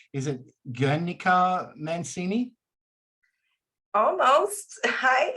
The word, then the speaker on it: Guernica: pronunciation is not going to be exact, but as long as you don't pronounce the U, I'm happy, I guess.